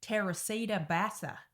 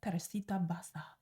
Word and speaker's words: Teresita Basa: named Teresita basa now I can't say her name without an accent because can you imagine if I said it in like an Aussie accent Terra Bassa so yeah you're going to hear me calling her terita basa throughout this whole video you got to pronounce it right you know like let it roll off your tongue terita terita Basta I